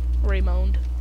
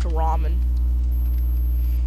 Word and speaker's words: ramen: Raymond. The Raymond noodles. Raymond. I used to call it Raymond all the time until I learned it's pronounced ramen.